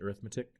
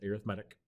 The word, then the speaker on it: arithmetic: an arithmetic sequence i know that looks like arithmetic it's pronounced arithmetic an arithmetic sequence is an ordered list of